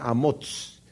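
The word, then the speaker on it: Amoz: es hijo de ambos no del profeta amós porque se escribió totalmente diferente en hebreo verdad el amor padre de de isaías que el amos profeta de hecho él el padre de isaías se pronuncia a motos tiene un llamamiento que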